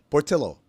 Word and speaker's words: Portillo: son of Greek and Mexican immigrants so poros Portillo it is Portillo I'm watching a commercial to